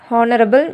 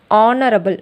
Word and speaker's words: honorable: Next, we also write an honorable man. See, the correct pronunciation is honorable, not honorable. Okay, honorable. So here honorable means the vowel sound. O is the vowel sound.